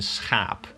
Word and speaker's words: schaap: Two examples in this are schap and schaap. Very similar words, but completely different pronunciations because of the vowel combination of, well, double A.